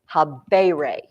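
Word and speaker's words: habēre: I don't know that this is excellent pronunciation, but I always remind myself by saying habere versus miteri. Habere tells me this is a long E, miteri.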